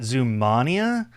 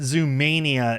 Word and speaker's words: Zoomania: zum Mania instead uh I've also heard some people in Germany pronounce it Zania but they pronounce it zum Mania in the film itself so that's what I'm going to go with um this also has